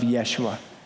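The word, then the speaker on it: ישוע: It comes from the Greek pronunciation of Yeshua.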